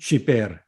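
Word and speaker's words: שִׁבֵּר: 이건 강한 발음이 난다고 그랬어요. 네. 쉬베르. 중복시켰으니까. 그렇죠. 중복시켰으니까 강한 거예요.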